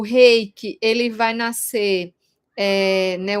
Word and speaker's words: reiki: japonês, né, no Nihongo, se a gente for falar a pronúncia correta, é reiki. Reiki. Então, não existe esse re. Para falar re, no japonês, teria que ser H-E, e é com R.